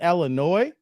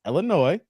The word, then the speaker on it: Illinois: here but here in Illinois not noise Illinois the S is silent that I come across